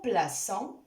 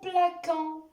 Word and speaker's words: plaçons: Exemple, nous plaçons, nous traçons. Vous voyez, si j'enlève la cédille à la lettre C, je vais prononcer le verbe comme suit. Nous plaquons, nous traquons.